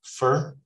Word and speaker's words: for: For is usually pronounced fur, okay?